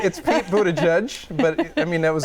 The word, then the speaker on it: Buttigieg: Pete Buttigieg. Close. Close. It's Pete Buttigieg, but I mean, that was a good try.